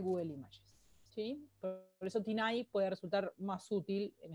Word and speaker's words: TinEye: Una de las herramientas, bueno, que ya se las mostré, se llama Tinay, se escribe así, Tineye, y es .com, o lo buscan en Google y lo encuentran, ¿sí?